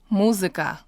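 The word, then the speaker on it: музыка: And it can be seen and heard in this word, muzika. So if you listen closely, you probably heard something like an I. Listen again. Muzika.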